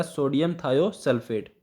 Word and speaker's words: सोडियम थायोसल्फेट: तो आप इसको याद रखिएगा, इसमें सल्फर अमाउंट है जो वो बढ़ जाती है, तो इसमें इसका सही जो प्रोनाउंसिएशन है वो क्या हो जाएगा? सोडियम थायोसल्फेट।